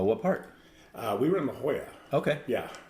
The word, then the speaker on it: La Jolla: We were in La Jolla. Okay. Yeah. La Jolla. I believe it's pronounced La Jolla. Yes, right.